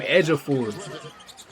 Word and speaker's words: Ejiofor: That's how you say his name Edgeafor.